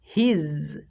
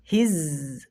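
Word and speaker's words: his: উচ্চারণ করলে চলবে না আমাদেরকে বর্গীয় জ এবং ঝ এর মাঝামাঝি সাউন্ড করতে হবে যেটা জেড এর সাউন্ড তোমাদেরকে শিখিয়েছিলাম প্রথম ক্লাসে তো এখানে আমাদেরকে উচ্চারণ করতে হবে হিজ এর অর্থ হচ্ছে তার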